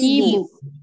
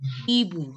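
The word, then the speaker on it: hibou: See, H is silent. You don't have to pronounce, H is silent. So you don't have to pronounce the H in French. So it will be Ibu. Ibu.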